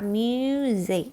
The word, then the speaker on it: music: นะ คะ May มี ตัว j นะ คะ Music นะ คะ Music อ่า ที นี้ มา ดู